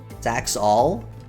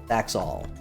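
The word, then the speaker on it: saxaul: Yeah, so it's pronounced all. Like the word all. Look at all this grass. Saxual.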